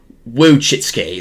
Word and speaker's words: Wojcicki: However you Wojcicki, that's how you pronounce it.